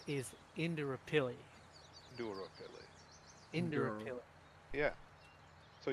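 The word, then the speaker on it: Indooroopilly: The way that it's pronounced is Indrapilli.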